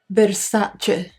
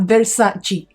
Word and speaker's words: Versace: she's here the Nutella Versace and you should put pronounce it correctly not versus not Versace it's Versace I think I could